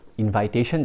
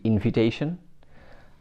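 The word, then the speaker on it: invitation: হ্যাঁ, ইনভাইট is fine, but ইনভাইটেশন যখন বলছেন, ইটস অ্যাকচুয়ালি ইনভিটেশন।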